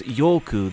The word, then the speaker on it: ヨーク: 5 given that error, is pronounced as Yoku. This could be Yoke, Yolk, or York, though it might just be the pronunciation of its kanji, which is simply Yoku, meaning desire or greed.